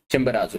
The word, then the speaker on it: Chimborazo: कहां पर कौन सा है डजेंट मैटर, बट इक्वाडोर में है चिम्बराजो. चिम्बराजो इज चिम्बोराजो, गाइस.